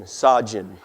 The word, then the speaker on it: Sajan: Here's how you pronounce his name, okay? And you're drinking gin. Sajan, okay?